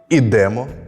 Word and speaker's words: ідемо: майже потрапив веземо Ідемо дієслова із закінченням емо імо і то наголошується остання частина я запам'ятав дієслова з